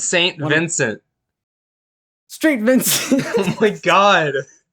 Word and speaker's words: St. Vincent: Street Vincent says nothing, but releases a sad but true Metallica cover. I'm sorry. Do you say Street Vincent? It says St. Vincent. That's Saint Vincent.